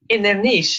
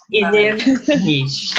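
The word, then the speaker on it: Inbhir Nis: Inner niche, even easier. Inner niche. Inverness. Yeah, you don't pronounce PH, so it's inner niche.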